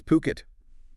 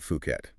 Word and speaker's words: Phuket: And just to be super clear on the name, it's Puket, definitely not Fuket. That pronunciation is key.